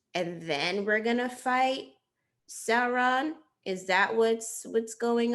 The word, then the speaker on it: Sauron: to fight against uh sauron that's how you say his name i want to say soren but that's not how you say it um and so you